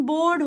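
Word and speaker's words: bored: अब याद रखना, इधर भी आपका ये मैं र लगा रही हूँ, लेकिन यहाँ पर ये र की साउंड आती नहीं है, तो ये बोर्ड हो जाता है, बोर्ड.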